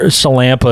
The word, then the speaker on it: Sillanpaa: uh it's uh Campa is my name there it is yeah you might pronounce it that's what it sounds like it's real easy to